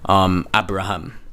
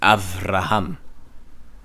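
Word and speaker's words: אברהם: You see, this is why when you see in Strong's and you see a b, you think it's okay, so it's Abraham, and it's Avraham.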